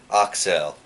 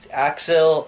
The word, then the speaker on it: Accel: much I and Julie Excel or people pronounce axel axel but it's actually excel so there is your